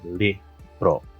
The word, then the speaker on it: libro: different so for example the word book in filipino is libro does not really sound like spanish it's different vowels right it's lax e lihbroh the other thing is like um again pronunciation right so like silla.